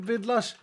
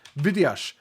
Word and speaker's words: Vidash: Isn't it Vidlash? Vidash. Vidash. It's not Vidlash. It's Vidash.